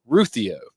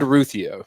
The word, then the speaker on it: Ruthio: He says he's from Danielsville, lives in Colorado now, and the last name is pronounced Ruthio. Ruthio. Ruthio's nice.